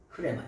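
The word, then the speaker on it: ῥῆμα: 원래 발음은 뭐냐? 흐레마야. 흐레마.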